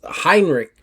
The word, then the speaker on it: Heinrich: Heinrich, uh, pulls Heinrich Yeah, I said it right, didn't I?